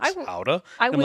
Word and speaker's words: Gouda: And my favorite thing that the tour guide said was or Gouda, as you might know it, No. Howda.